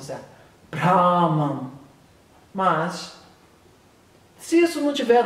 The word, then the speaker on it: Brahman: Eu até aprendi a pronúncia certa. Brahman.